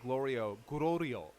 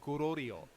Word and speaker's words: Glorio: Well, it's because the name is Glorio. So he's probably getting like tripped up on the Rori, like Gororio, and so he's probably like Gororio, like it's Gorillo.